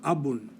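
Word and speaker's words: أبٌ: The first letter here this line with a little vowel mark over it, that says A. The second letter, that's a B, and that little vowel mark right there says Un. So abun, or in composition, abu, is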